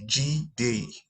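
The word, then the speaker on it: G.D.: as you can see g d pronounced g day um i'm a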